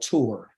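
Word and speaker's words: תור: a tour somewhere that's the actual pronunciation of the word is called tour okay just like you want to go take a tour all right so to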